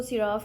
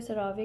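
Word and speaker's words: CeraVe: हाँ, एक और चीज़, एक ये है क्रीम, कोई लोग इसको सिराफ कहते हैं, कोई सरावे कहते हैं, सो यू can pronounce it द वे you want.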